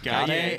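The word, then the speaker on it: Gotye: So how do you pronounce that guy's name, by the way? Goy. Gauthier.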